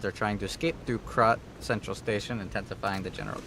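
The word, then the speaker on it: Krat: wrong Kat's largest puppet I'm mispronouncing Kat it's crot if the uh I'm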